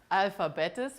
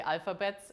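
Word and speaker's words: Alphabettes: There's no consensus on how you even pronounce this. I have to say this before. I still say alphabetus, which is super German, of course. The Americans say alphabets.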